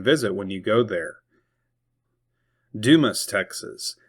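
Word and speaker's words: Dumas: Dumis, Texas. It is not pronounced Dumis or Duma.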